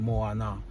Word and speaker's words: Moana: So, Moana, you know, not more like the movie, but the name Moana. Moana is known as the ocean in ancient times, right? And Moana is two syllables in words, two words.